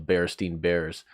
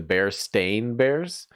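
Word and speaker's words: Berenstain: who read these books, you would always swear that it was spelled with an E. Everyone literally has vivid memories of it being spelled with an E. But it's spelled with like an A, so it's like the Bearstain Bears.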